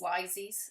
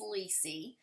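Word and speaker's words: Lisey: I listen to it I called this lysis or Lizzy's story I did not know how to say this but it's Lisi Lacey's story and I said you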